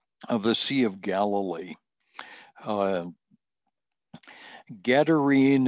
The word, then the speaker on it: Gadarene: Gadarene is sometimes pronounced Gerazine. The transliteration is difficult and it's confusing, but it's the northeast corner of the Sea of Galilee.